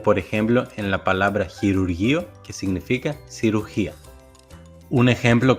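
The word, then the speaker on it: χειρουργείο: El próximo diptongo es la combinación omicron-y, que se pronuncia U, como por ejemplo en la palabra chirurgio, que significa cirugía.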